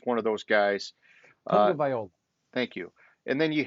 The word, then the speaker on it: Tagovailoa: Uh, Tagovailoa.